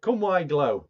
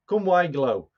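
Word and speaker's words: Cwm-y-glo: just bear with me come why glow that's how you pronounce it come why glow that's the welsh pronunciation of this modeller's moment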